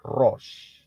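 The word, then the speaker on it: ראש: Shin Res Al dan Shin itu bunyinya ya pronounciation-nya atau pengucapannya adalah Ros Kalau saudara ingat kata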